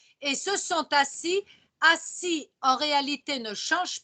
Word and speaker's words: assis: Assis.